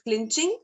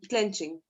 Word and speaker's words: clenching: And clenching was pronounced incorrectly. It was pronounced as clinching. So it would have, the right pronunciation is clenching.